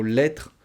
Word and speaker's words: lettre: Ça fonctionne, je vous l'ai dit, avec le mot lettre, litre, vôtre, maître. Voilà, beaucoup de mots qui se terminent par tre, T-R-E, et on mange la dernière syllabe, les deux dernières lettres, R-E.